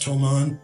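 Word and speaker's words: Thomann: that I got from I think it's pronounced tomon t h o m Ann fantastic riing miks use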